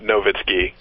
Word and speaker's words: Nowitzki: Well, we learned in the finals that Dirk Nowitzki, the W is pronounced like a V, right? Did we learn that? Nowitzki.